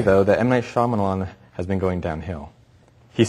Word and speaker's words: Shyamalan: how do you pronounce his name m night shamalan shamalan it's like kind of like that at the end is that Shyamalan yeah it's like his you're going to get